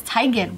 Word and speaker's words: Teigen: Well, it's just like Chrissy Teigen, it's Teigen.